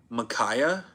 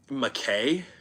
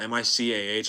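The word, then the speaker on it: Mykah: Like, where are you getting an a Y from at the end of my name? It's M Y K A H. Um, McKay, I've heard that one a decent amount.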